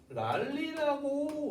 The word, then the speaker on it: 물난리: 물난리라고 얘기를 합니다. 그러면 이 물난리라고 하는 단어들 보시면은 어떻게? 얘가 물난리라고 우리는 변화합니다.